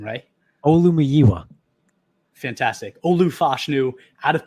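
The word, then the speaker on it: Olumuyiwa: Olumiyiwa.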